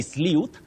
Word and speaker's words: sleuth: jamaima maton of nakuru you say sleuth sleuth a detective give a sleuth. You can also say sleuth. So you remember that certain words have more than one acceptable pronunciation.